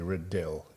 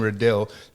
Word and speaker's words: Riddell: Oh, seriously, Riddell. If he pronounces his name Riddell, that's how his creek should be named.